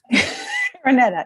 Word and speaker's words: Araneta: Okay, so next we're going to go to Tim Araneta. Am I saying it right? Suddenly I've got am I saying it right? Yes, I am. I know I'm saying it right. I think. Araneta, right.